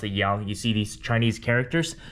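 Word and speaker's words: 阳: This is pronounced yin and this is pronounced yang.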